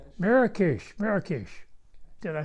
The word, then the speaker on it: Marrakech: yeah Dakar then Marcus it's not Marcus Marrakech Marrakesh did I spell